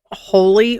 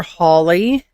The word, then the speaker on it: Holi: Uh, anyway, I'm going to pronounce this as holy or holly. H O L I.